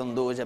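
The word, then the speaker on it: 'nduja: Infatti la parola è giusta, Andugia, perché molti pronunciano Anduia, che però non è esatto.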